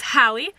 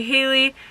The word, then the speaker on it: Halle: relevant to address here it's pronounced Howie like Halle Berry or Holly's comment whatever floats your boat a lot of people say hailey a lot of people say hail how I'll probably turn around